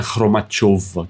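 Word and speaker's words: Khromacheva: É o mesmo caso do Rublev e Rublov, é aquele com trema que se escreve com E, mas se lê como O. Então é Irina Kromachova que fala.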